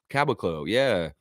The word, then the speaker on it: Caboclo: It is Bruno, and I always say his name wrong, and she gets on to me for it. Bruno Caboclo. Caboclo, yeah, that's right.